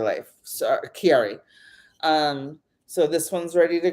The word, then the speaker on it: Chiari: But according to Elise, it's pronounced Chiari life. So Chiari.